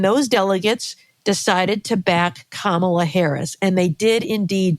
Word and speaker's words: Kamala: The question is, since President Biden dropped out of the race and Kamala, pronounced Kamala, as her little nieces told us, when she became the